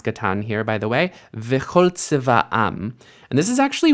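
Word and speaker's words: וְכׇל: So instead of v'chal, we get v'chol tzeva'am, because chol is actually unstressed.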